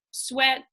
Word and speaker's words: S'WET: Yeah, so Sweat is, I tried to come up with like the acronym for SWET, because it's spelled S''WET, and it basically comes down to like structured water exercise training.